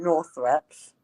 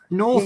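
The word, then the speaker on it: Northrepps: That's one of this the house didn't have Northreps is one of the few places in Norfolk that is actually pronounced the way it's spelt.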